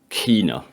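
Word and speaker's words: Kena: oh yeah or because i thought it was kenner but when i was playing it she pronounces it kina sorry that whichever pronoun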